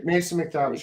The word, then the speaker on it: McTavish: It's Mac with an A for Craig. So it's not. No A in Mason McTavish, by the way. Okay, Mason McTavish.